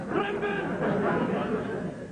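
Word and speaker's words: Crumbum: Young lady, it's Crumbun! Well, it sounds like Crumbun. C-R-U-M-B-U-M. The U is silent. Both of them.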